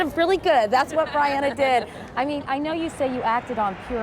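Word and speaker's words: Briana: A lot of people say Brianna. I'm telling you now, it's Brianna. Rhymes with Diana.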